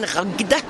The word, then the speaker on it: Ragde: Ragde is very difficult to pronounce in German. Ragde.